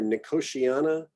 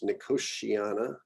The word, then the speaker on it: Nicotiana: Nicotiana, it's this TI thing we do in English. Nicotiana. You could also do Nicotiana, but I believe most people are going with Nicotiana.